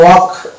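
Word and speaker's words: walk: অনুরূপভাবে এটা হয়ে যাবে ওয়াক, ওয়াক। ওয়া যুক্ত এল কে দুটো মিলে হচ্ছে ক উচ্চারণ করবো, এল বাদ, এল সাইলেন্স, কারণ এল কে এর আগে দিকে ভাইল আছে, তাহলে এল সাইলেন্স হয়ে যাবে, ওয়াক হয়ে গেল।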